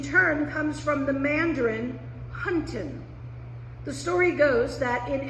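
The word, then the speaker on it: 餛飩: The English word wonton derives from the Cantonese, which is pronounced more like wonton, which in turn comes from the Mandarin huntin.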